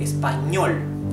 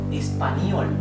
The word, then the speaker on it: español: We are using letter ñ, español. If you cannot pronounce ñ correctly, you can say español, right?